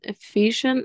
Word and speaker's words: efficient: efficient very good nice it's like fish you know fish efficient perfect efficient beautiful that's good